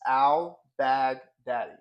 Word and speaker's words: Albagdadi: Uh it's so it's actually pronounced exactly how it's written. It's Albag Daddy. Albag Daddy.